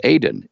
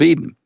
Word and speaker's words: Aden: called the port of Aden Eden you know it's it's pronounced Aden in the local language but it's the port of Aden so why did they